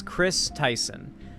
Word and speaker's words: Kris Tyson: So the person in question is Chris Tyson. This is both, basically the name's pronunciation hasn't changed, but the spelling has.